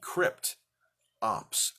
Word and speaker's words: Kryptops: kryptops name is spelled k-r-y-p-t crypt ops o-p-s ops refers to the face